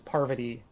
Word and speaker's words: Parvati: i'm butchering that pronunciation paravati what is it again i i've heard a few different ones but the one that i've heard most often is parvati bit more emphasis on the par yeah so he's in